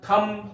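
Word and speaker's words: thumb: का अर्थ होता समाधि दूसरा होता है क्या थम टी एच यू एम बी थम बी टी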